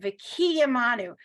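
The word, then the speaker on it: וְקִיְּמָנוּ: Whenever you have a dot inside the consonant, that's where they want you to pronounce the word, right? So higiyanu, right? Lazman hazeh. So here it's v'kiyamanu. They want you to emphasize the yud, v'kiyamanu.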